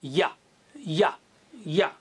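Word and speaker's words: ي: видите это очень стильно и буквы как произносится буквой а тот же махарадж середина языка касается небо во рту и мы говорим я-я-я-я и как вы ее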